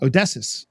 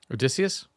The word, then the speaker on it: Odysseus: Like in my home base right now, I talk to Odysseus a lot. Odysseus? Odysseus. Eventually I'll say his name right. Just think Odyssey when you say his name.